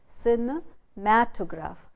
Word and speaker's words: cinematograph: But when you say cinematograph, the suffix graph, you say put the stress on the syllable just before the suffix, and you say cinematograph. The stress is on matograph, cinematograph.